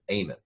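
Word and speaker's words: Amen: Alzheimer's by Daniel Eamon am en like a minute at the end of a hymn which is how he pronounces it Amon the third book was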